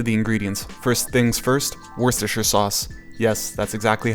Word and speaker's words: Worcestershire: get right to the ingredients first things first Worcestershire sauce yes that's exactly how you pronounce it afterwards light soy sauce dark is